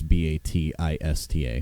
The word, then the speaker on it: Bautista: And it's not spelled like his last name. It's Batista.